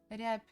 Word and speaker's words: рябь: So we write B, but basically when we pronounce it may sound as P a little bit.